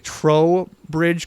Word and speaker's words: Trowbridge: We have Dusty from Vergas, Minnesota, with, I'm going to pronounce this correctly, Trowbridge Creek Zoo. That's correct. I always want to say toe, but there's an R in it.